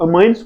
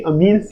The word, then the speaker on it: amines: देखो अमाइंस, देखो इसको कुछ कुछ लोग अमाइंस बोलते हैं और कुछ कुछ अमीन्स बोलते हैं, लेकिन एक्चुअल प्रोनाउंसिएशन इसकी अमीन्स ही है।